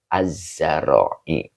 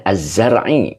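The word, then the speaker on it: الزرع: Az-zara'i. Ya, az-zara'inya adalah mudhof ilaih gitu ya, yang dijerkan dengan kasroh. Begitu ya. Oke. Ya, dibacanya az-zar'i bukan az-zara'i ya. Ini yang pasnya adalah az-zar'i.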